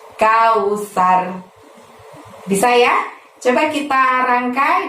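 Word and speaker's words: الكوثر: Lalu ditutup dengan lafaz kausar, pendek-pendek juga. Tapi ingat saat melafazkan sar di sana karena huruf sa, maka ujung lidahmu dorong ke gigi atas supaya bunyi S-nya itu tipis. Sar, seperti itu. Kausar.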